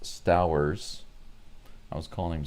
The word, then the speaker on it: Stowers: Apparently his name is pronounced Stowers. I was calling him Stowers.